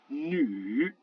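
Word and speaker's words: 女: Il existe aussi des cas de U avec un tréma, par exemple le mot qui veut dire la femme, qui va se prononcer nu.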